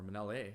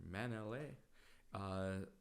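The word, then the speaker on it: Mānele: So anyway, or Manele, I should say, or Manele. Still working on that Hawaiian pronunciation, but all good.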